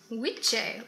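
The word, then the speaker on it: wicce: word witch and it comes from wichi like it's spelled like w-i-c-c-e specifically for a woman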